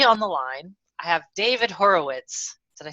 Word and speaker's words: Horowitz: But today on the line, I have David Horowitz.